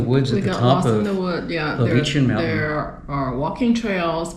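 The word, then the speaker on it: Lovćen: And the other thing we did was we took a cable car to the top of Lovenchen. Uh-huh. Is that how you say it? Yeah, Lovenchen.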